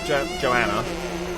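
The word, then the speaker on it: Johanna: Let's now be Joanna. That's how you pronounce it, right? It's a silent H.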